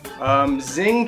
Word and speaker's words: Xing: The X is in Chinese is like it's S-H.